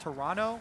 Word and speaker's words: Toronto: I was told actually by a tweet it's pronounced Toronto with no uh no T oh yeah today